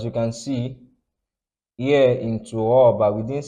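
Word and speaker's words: ترابا: So fathatan like this ending a word, you pronounce it like this. So this is what's caused us to say turaba and we didn't say turaban.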